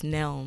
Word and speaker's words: Nelms: Elms. I always say your name wrong. Why do I do that? Everybody. Elms. I think I'm in my yearbook under Helms. Yeah, but it's Nelms. It's Nelms. Yeah.